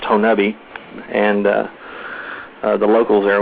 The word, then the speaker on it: Honobia: it's actually the the if you were to try to pronounce it the way it spelled it would be honobia but it's pronounced honeubi and uh the locals